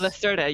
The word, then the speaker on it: Lacerda: Is it Lacerda? I never know how to say this. Lacerda, yes.